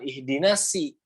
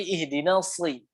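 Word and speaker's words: اهدنا الصراط: Makanya kalau di Al-Fatihah bacanya bukan ihdina si, tapi ihdina sli.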